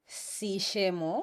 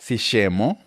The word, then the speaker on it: Sishemo: How do I pronounce that? Shishemo. Shishemo.